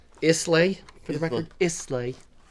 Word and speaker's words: Islay: until next time it's lion java it's not pronounced eyes lane isley for the record islay